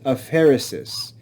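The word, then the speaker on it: aphaeresis: fancy names which I'll I'll teach you the pronunciation of the first one is a Pharisees a Pharisees it's the omission of a letter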